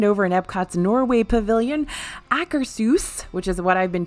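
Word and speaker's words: Akershus: has finally reopened over in epcot's Norway Pavilion accursus which is what I've been told is how you pronounce it not Acker shoes which I did for a long time not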